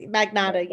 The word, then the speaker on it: Magnata: Am I pronouncing this right? Magnata. Hi, yes, Magnata, yep.